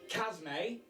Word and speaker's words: Chasme: The chat saying Chasme is how you say it.